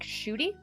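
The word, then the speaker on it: Ncuti: Pronounce his name like Shooty.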